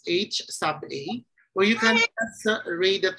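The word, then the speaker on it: Hₐ: be ho we have ha a can be read as H sub a or you can read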